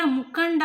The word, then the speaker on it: ಮುಖಂಡ: ಕಡೆ ನೋಡಿ ಸ್ನೇಹಿತರೆ ಮುಖನ್ ಮುಖಂಡ ಇಲ್ಲಿ ಅನುಸ್ವಾರವನ್ನು ನಾವು ಉಚ್ಚಾರಣೆ ಮಾಡಬೇಕಾದರೆ ಮುಖಂಡ ಅನ್ಬೇಕಾದ್ರೆ ಇಲ್ಲಿ ಈ ಅಕ್ಷರದ ಜೊತೆಗೆ ಅನುಸ್ವಾರದ ಜೊತೆಗೆ ಕಂ ಜೊತೆ ಅನುಸ್ವಾರ ಇದೆ ಈ ಕ ಗ ಗ ಕ ಗ ಗ ಉಚ್ಚಾರಣೆ ಮಾಡಿದರೆ ನಿಮಗೆ ಗೊತ್ತಾಗುತ್ತೆ ಮುಖಂಡ ನಕಾರ ಇಲ್ಲಿ ಅನುಸ್ವಾರದ ಬದಲಾಗಿ ನಕಾರ ಇಲ್ಲಿ ಬಳಕೆ ಆಗ್ತಾ ಇದೆ ಅವರು ಶಾಲೆ ಅವರು ಕಾಲೇಜಿನಲ್ಲಿ